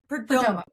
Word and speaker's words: Perdomo: that we love, Karina Padera. How do you pronounce her last name, Sonya? I'm saying it wrong. Perdomo.